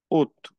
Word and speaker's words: août: La T final no se pronuncia. Ut. Una U y una T.